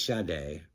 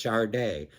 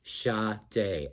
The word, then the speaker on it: Sade: It actually says in parentheses, pronounced Sade. S-H-A-D-A-Y. There's no R in that pronounced. It's not pronounced Sade.